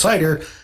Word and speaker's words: CIDR: used for host addresses cidr sometimes pronounced cider stands for classless inner